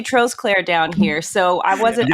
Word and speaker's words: Trosclair: like we we call you I'm we say trust Claire no we say trolls Claire down here so I wasn't I wasn't going